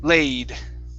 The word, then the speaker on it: laid: the word laid Okay Long a laid Laid Mhm Okay Good